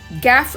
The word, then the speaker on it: gaffe: அப் கேப் அப்படின்னு சொல்லுவோமா இந்த வார்த்தையை நம்ம கேப் அப்படின்னு தான் சொல்லணும் ஏன்னா இந்த இ இருக்கு இல்லையா எஃப்க்கு அடுத்ததா வரக்கூடிய இய நம்ம வந்து மேஜிக் இ அல்லது சைலெண்ட் இ அப்படின்னு சொல்லலாம் ஒரு வார்த்தையினுடைய கடைசியா அந்த வி வருது அப்படின்னாக்க அந்த இ உடைய சவுண்ட நம்ம உச்சரிக்க கூடாது அதுக்கு முன்னாடி இருக்கற லெட்டரோட சவுண்டோட அந்த வார்த்தையை நம்ம முடிச்சுக்கணும் அப்ப ஜி ஏ எப்